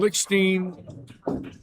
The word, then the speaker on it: Lickstein: And Lickstein rhymes with Augustine.